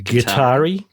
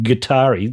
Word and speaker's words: GuitAri: The Guitari, which is spelt little g and then capital A, for Atari. Guitari.